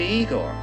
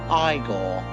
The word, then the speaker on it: Igor: You must be Igor. No, it's pronounced Igore.